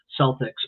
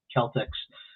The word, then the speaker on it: Celtics: They you know, they call the basketball team, the Boston Celtics, but it's actually should be Celtics. Um so a lot of people aren't familiar with the hard C there, but uh but